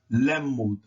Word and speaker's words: lemud: And the A, when it's pronounced soft, is pronounced as a. A, as in apple, application, after, a. So that would be pronounced lemud, lemud, lemud, lemud, which means to teach.